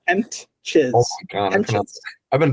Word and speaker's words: Hentges: I'm saying, is it Hented? Oh, no, it's Hentges. Henches.